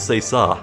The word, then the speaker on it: c'est ça: I looked up how to pronounce it. It's c'est ça.